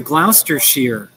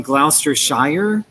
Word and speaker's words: Gloucestershire: And I was like, oh, you mean Gloucestershire? No, and she was like Gloucestershire. And it's spelled S-H-I-R-E. So there's a difference in, you know, the British and the American way that we pronounce it.